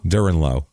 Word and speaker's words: Durenleau: Durenleau. Okay. Durenleau? Durenleau. Yeah. Durenleau. Durenleau? Durenleau. Oh, let's call it Durenleau. It's Durenleau. Duren, That's French. Okay. That's some French shit.